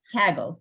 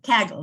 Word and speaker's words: Kaggle: how to say it if it's Kegel or Kegel Kegel not Kegel that's exercises for pregnant women uh kaggle kaggle that's it so I went and